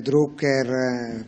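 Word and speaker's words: Drucker: cominciato a svilupparlo deter druker quasi un secolo fa lo pronuncia alla tedesca anche se più conosciuto come americano perché era di origine austriaca e se ne andò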